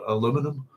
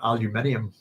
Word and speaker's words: aluminium: Star Trek's got, was it transparent aluminum or transparent aluminium, as we like to say. That's good. It took me ages to figure out what transparent aluminum was, and then I realized it's Americans saying aluminium.